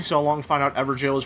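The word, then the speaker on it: Evergaol: Took me so long to find out EverJail is pronounced Everjail.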